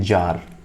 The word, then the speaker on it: czar: या बोल सकते हैं जार, CZAR। सी यहाँ पे साइलेंट है।